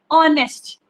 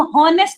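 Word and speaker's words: honest: उसकी प्रोनाउंसिएशन क्या है, ओ से स्टार्ट हो रही है, ऑनेस्ट। हम हॉनेस्ट नहीं पढ़ रहे, ऑनेस्ट।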